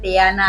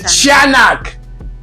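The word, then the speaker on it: tiyanak: the tanak chak oh tanak the chanak but it's spelled like tanak t i y a n a k right CH now this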